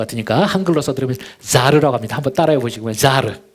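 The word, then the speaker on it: זר: 이 다른이라는 단어가 히브리어로 제가 먼저 평신도 분들도 계신 것 같으니까 한글로 써드리면 자르라고 합니다.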